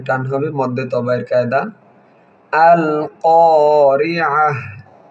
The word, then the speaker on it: القارعة: হবে মধ্যে তবায়ের কায়দা আল কারিআহ আইন হলকের মধ্যখান থেকে উচ্চারণ হবে এবং অক্ফের আগে যদি গোলতা হয় সেই গোলতা হার উচ্চারণ হয়।